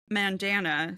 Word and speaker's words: Mandana: So she says, "I pronounce Mandana so that it rhymes with bandana."